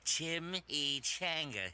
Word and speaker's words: chimichanga: Well, it's pronounced Chimichanga.